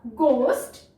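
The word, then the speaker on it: ghost: GH कौन सी sound देता है? ग की, या यूं कह सकते हैं इसमें H क्या है? साइलेंट है। या GH का जो कॉम्बिनेशन है वो हमेशा हमें ग की साउंड देता है। तो गोस्ट, गोस्ट, फाइन।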